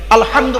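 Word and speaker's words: الحمد: দেখেন আলহামদুলিল্লাহি রাব্বিল আলামিন আলহামদু আলহামদু এই গলার ভেতর থেকে হেটা উচ্চারণ করবেন আলহামদু মানে হচ্ছে সমস্ত প্রশংসা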